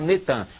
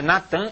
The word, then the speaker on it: Natan: É Natan, eles já fizeram o sincretismo, botaram Netan, mas é Natan Yarro.